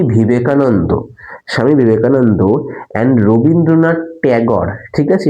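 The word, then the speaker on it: Tagore: এটা উচ্চারণ কিন্তু ট্যাগর। একটা কথা মনে রাখো আমরা বাঙালিরা কিন্তু ঠাকুর বলি। কিন্তু আমাদের দেশে যারা ইংরেজ এসছিল ইংরেজরা এই ঠাকুরকে টেগর বানিয়ে দিয়েছে। তাই ওই কারণে ইংরেজিতে টেগরই বলা হয়।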